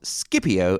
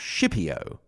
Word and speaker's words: Scipio: Also, there's an interesting note on pronunciation, because we do pronounce Scipio and not Scipio. This is what we call pronuncia latina restituita. I'm not sure what that is called in English. restituted or reconstructed or something like that. And it is supposedly the way the Latins actually pronounced it themselves. That is, k instead of sh, basically.